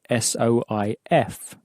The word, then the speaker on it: soif: Thirst is spelt S-O-I-F. How would you pronounce that? Soif. Now, the F has been clearly pronounced at the end because it's in for luck.